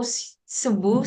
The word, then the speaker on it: Cebu: So, Subu, sorry, am I right? Did I pronounce it right?